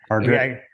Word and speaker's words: Hargrett: Hargrett Library, am I saying that right? Yeah. Okay. Hargrett. Okay, yeah, it is Hargrett.